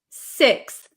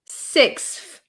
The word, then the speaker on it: sixth: is a good question can we pronounce sixf uh so no I wouldn't use an F sound here this should be a t sound so um fourth fifth